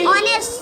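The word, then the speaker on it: honest: Arifa seems to বি অনেস্ট, অনেস্ট মানে সৎ। তাহলে Arifa seems to বি অনেস্ট। আরিফাকে দেখে সৎ মনে হচ্ছে। ক্লিয়ার? তাহলে অনেস্টটা হচ্ছে কি মানে বানানটা আলাদা উচ্চারণ।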